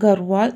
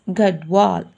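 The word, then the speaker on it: Garhwal: of kumayon and gowar thus the correct pronunciation of garwall is gadwal kumyun and gadwal regions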